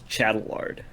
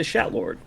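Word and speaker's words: Chatelard: When I read it, I read it as Chattelard. See, so when I was, because I'm playing this on Japanese, and I'm like, oh my god, I'm not going to know how to say this guy's fucking name. So I'm waiting, like, intently for them to say his fucking name so I know how to say it. And I'm like, no, that's not right. Turns out, yeah, that's it. Yeah, he's just a Shatlord.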